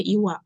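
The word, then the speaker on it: 岩: Selanjutnya ini kanji yang terakhir atau yang ke-10 adalah iwa. Ongominya dibaca gang.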